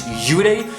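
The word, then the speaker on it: 幽霊: In their mythology, in their language, a ghost or a spirit is yurei, that's how you pronounce it, but then vengeful spirit, the one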